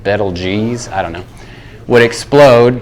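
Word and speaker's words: Betelgeuse: for you if I pretty sure that's pronounced bettle geez I don't know what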